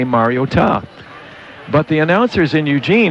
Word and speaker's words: Mariota: and we said, well, it's not meant to be a pronunciation. It's just the O is big to show it's Oregon, but it's actually Mariota. But it was the correct pronunciation, Mariota.